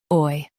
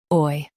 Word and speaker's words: buoy: buoy Both US and UK have the same pronunciation of this word. buoy Now read the syllables shown on the screen naturally. buoy buoy Say it like boy.